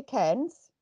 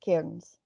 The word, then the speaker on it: Cairns: A lot of English people say Cairns. Yeah. But I'm Scottish, so it's Cairns.